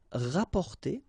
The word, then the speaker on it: rapporter: So same thing here, you don't pronounce the double p.